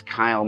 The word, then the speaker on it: Kyle: And Cale, your full name is Kyle MacLachlan, but I call you Cale. And I remember why I call you Cale. Dino de Laurentiis could never pronounce Kyle's name, called him Cale.